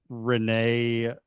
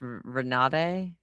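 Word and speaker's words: Renate: No, it's Renade. Rinsby Rinsby. I don't know. I don't know how to say her name. R E N A T E. me. I saw the T and I'm like feel like the T is silent. I don't know. So, I'm going to go Renee. But it's not Renee.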